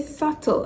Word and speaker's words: subtle: word subtle so say subtle and not subtle hey my brother and my sister it is subtle so be subtle when pronounced in the word subtle without the B right so the B